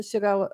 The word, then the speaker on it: Shigella: it is Shigella.